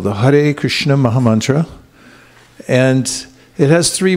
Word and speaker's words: Krishna: as srimati radharani then we have Krishna so this has two syllables as you can see